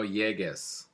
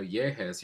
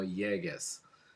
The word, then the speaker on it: llegues: But to change the G sound, to keep that G sound in front of an E, you have to use a GU. So you're not wanting to say no lleges, you want to say no llegues.